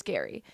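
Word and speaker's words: Gerry: ABC's the Bachelor Gary it's spelled like Jerry but it's Gary Turner the 72-year-old star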